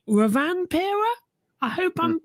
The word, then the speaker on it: Rovanperä: I'm going to need your help with the pronunciation here, but the Finnish driver, I want to say Rovanperä. I hope I'm pronouncing that correctly. Yeah, Kali Rovanperä.